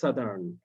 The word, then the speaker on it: Southern: আচ্ছা এটার উচ্চারণটা বলি, আমরা নরমাল সাউদার্ন উচ্চারণ করি, এটা উচ্চারণ হচ্ছে সাদার্ন, ঠিক না সাজিদা?